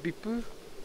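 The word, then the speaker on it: ビップ: In Japanese, it's called Bippu, which is how you would pronounce VIP if you were to read it, like VIP, Bippu, yeah.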